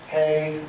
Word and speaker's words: He: The Yod, He, Vav, He. It's H-E, but it would be like it rhymes with say or something like that.